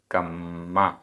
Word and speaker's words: कम्मा: कम्मा, आधा मा पूरा मा, कम्मा।